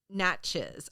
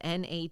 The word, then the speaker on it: Natchez: Number 3, Steamboat Natchez. I had to look this up. It's spelled Natchez. I want to say Natchez, but I think in Cajun it's pronounced Natchez.